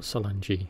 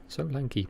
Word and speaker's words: Solanki: So, from the Solanki, not Solangi, Solanki platform.